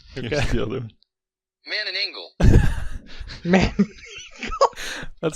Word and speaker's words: Manananggal: And then the second one is like, if the whitest person you ever met pronounced this. Johnny Right, Galecki. Here we go. Here's the right one. Manananggal.